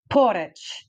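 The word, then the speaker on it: Poreč: of porit porit and it looks like a p o r e c with a little V on top but they say you've got to roll your RS like the Italians and the Spanish so it's porit uh so that's that's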